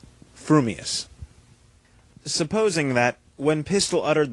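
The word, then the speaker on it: frumious: gifts a perfectly balanced mind you will say fumus supposing that when pistol uttered the well-known words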